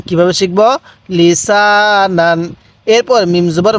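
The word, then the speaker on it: لِسَانًا: আলিফ জবর সা নুন আলিফ দুই জবর নান লিসান কিভাবে শিখবো লিসান এরপর মিম জবর মা হামজা খারা জবর আ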